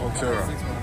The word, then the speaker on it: Cultura: Cultura.